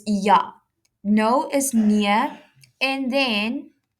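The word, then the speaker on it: ja: In Africans, J is pronounced as a Y. So it's Yah.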